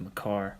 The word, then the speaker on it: Makar: oh that's like 80 right now it's always pronounced makar the car maker makar same thing he was